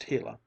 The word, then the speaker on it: gila: shone down on the gila monster pronounced hela it was no longer